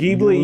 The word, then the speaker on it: Ghibli: Ghibli.